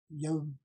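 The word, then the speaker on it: يوم: Gördüğünüz zaman arkadaşlar, okunuşta burada yevm.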